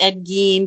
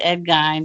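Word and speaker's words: Ed Gein: is Ed G's car which I know it's probably pronounced Ed G but we all said Ed gy so that's how I'm saying it yeah so Ed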